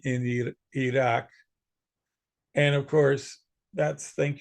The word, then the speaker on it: Iraq: So that's why we pronounce countries like Iran and Iraq improperly. Their real names are Iran and Iraq.